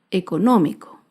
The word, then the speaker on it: económico: Por último, otro ejemplo de una palabra esdrújula es la palabra económico. Económico se acentúa en la antepenúltima sílaba.